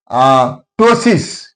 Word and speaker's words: ptosis: Ptosis. Here P is followed by T. That's why P is silent.